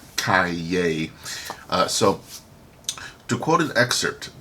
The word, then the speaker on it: Calle: Fun fact, Calle means street in Spanish and is pronounced Calle.